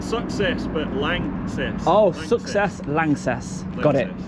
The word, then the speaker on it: LANXESS: But langess. Oh, success. Lances. Got it. Got it. So now I know how it's pronounced and I've just read a little bit to the camera about what you do.